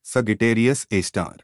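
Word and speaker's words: Sagittarius A*: Black hole at the center: at the heart of the Milky Way lies a supermassive black hole called Sagittarius A, pronounced Sagittarius A star.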